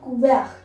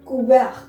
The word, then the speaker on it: couvert: Le couvert. La couvert. Mind it, we don't speak T and S in French. We don't pronounce T and S in French. It's silent here. Le couvert.